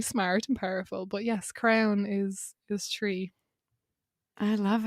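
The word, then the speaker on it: crann: the irish retreat is crown um it's spelled c or a n n but pronounced like you know the crown that uh king or queen would worse and it's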